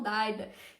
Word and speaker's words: Dagda: Se escreve Dagda, mas algumas pessoas falam Daida.